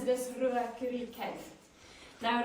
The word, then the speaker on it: Ruakuri: So we pronounce it as Ruakuri cave. Now Ruakuri, it also translates to 2 dogs or den of the dogs.